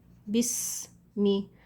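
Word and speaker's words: بسم: Bismi. So the sin here is silent, bis, because of the sukoon on it.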